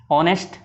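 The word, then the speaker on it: honest: X-ray ऑनेस्ट, इसका H से silent रहता है ऑनेस्ट ओवर में, तो एन ओवर एन।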